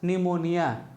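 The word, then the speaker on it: pneumonia: लीजिए यहां लिखा है पी एन ई यू एम ओ एन आई ए अब ये लिखा है क्या निमोनिया क्या लिखा है निमोनिया और पी इसमें क्या हो गया साइलेंट हो गया अब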